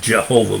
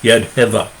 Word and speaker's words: Yehovah: Yehovah. The English pronunciation is Jehovah, but it's Yadheva.